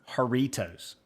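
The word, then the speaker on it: Jarritos: har hang say that haritos it's like jar but the J is like an H sound I always I feel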